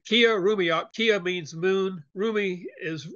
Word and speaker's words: Killarumiyoq: I compliment you on pronouncing it right. It's difficult. Nobody does at first, not even me. Killarumiyoq.